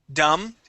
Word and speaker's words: dumb: behind you dumb um dumb okay yeah you can say someone is dumb okay remember that b is silent okay you dummy okay